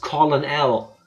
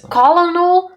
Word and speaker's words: Colonel: what happened Tifa being Tifa read it as colon l so there's a colon doll somewhere that is exactly what it should be pronounced as colonal Sanders like the English language this proves just